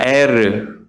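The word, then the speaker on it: ער: 그런데요, 이 엘이라는 그 장자의 이름을 보시면요, 원래 히브리어 발음으로는 엘이 아니고 엘은 하나님이잖아요. 에르입니다. 에르.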